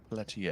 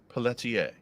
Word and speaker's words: Pelletier: I'm sorry that that's the correct pronunciation. Pelier. Pelier. It's not Pelier. Pelier is like somebody that shoots pellets. Yes. Correct. That's a pelleter. It's pelletier.